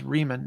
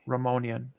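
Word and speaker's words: Riemann: The man's name was Reman, not Ramonian.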